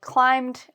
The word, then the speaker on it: climb: So again, here's the word without the B. That's how you pronounce it. Climb.